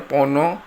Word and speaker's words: Phono: tuner lalu ada Pon Pono ini bacanya Pono nah ini adalah untuk